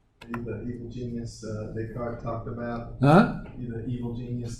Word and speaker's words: Descartes: about huh you know the cards talked about a card yeah remember the French do not pronounce the last letters the French do not pronounce the last letters the card s is not pronounced and unless certain uh